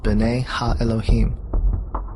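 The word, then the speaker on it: בני האלהים: of God mentioned here in the Hebrew is pronounced Ben ha Elohim the Septuagint which is the Greek translation of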